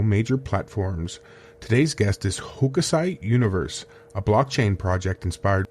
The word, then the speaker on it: Hokusai: Today's guest is Hokusai Universe, a blockchain project inspired by one of Japan's greatest artists.